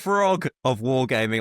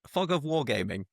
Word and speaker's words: Fog of Wargames: is Fog of Wargaming, not Frog of Wargaming, like I said last week.